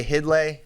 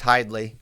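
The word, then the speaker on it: Hidlay: must you can be you say hid lay it's hide Lee I know I know how it's spelled we all know how it's spelled so I'll give you a pass on that one but it is hide Lee okay allegedly well I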